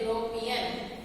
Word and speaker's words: European: here a only because European again Y sound. Wherever we will use Y sound, there we should write a only.